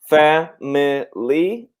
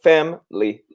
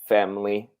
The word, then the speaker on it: family: We can pronounce it family, or normally we pronounce it family. So this I is normally silent. So family.